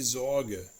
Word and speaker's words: Sorge: The most complicated is actually the letter S. It is pronounced like a voiced sibilant, the Z sound, if it is followed by a vowel.